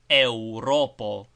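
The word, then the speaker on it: Eŭropo: Europo is pronounced with a similar closing of the lips after the e sound.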